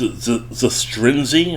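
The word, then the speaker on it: Zastryzny: roster robs the strength it's a stringzy I think it's how you pronounce it z-a-s-t-r-y-n-z-y can't say his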